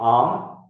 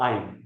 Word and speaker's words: I'm: यू can pronounce it आम और आइम, आम एंड आइम। अमेरिकन्स लाइक टू से आइम एज वेल।